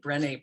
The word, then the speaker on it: Brené: Yes, Brené Brown. So that's how you spell it. It doesn't always have the accent on the second E but that's how it sounds in French.